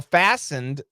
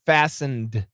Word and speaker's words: fastened: pronounce fastened yeah so fastened obviously the t is silent like listen fasten the t is silent uh but the ending D we should pronounce it fastened fastened but many times we